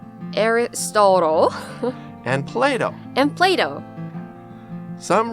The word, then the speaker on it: Aristotle: Everyone, the three famous Greek philosophers, can you say the English pronunciations? Socrates, Aristotle, and Plato.